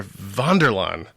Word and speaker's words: Vanderlan: 40 goodness my guest host this evening melissa vonderlaan again very german am i pronouncing that right yes it's a lot of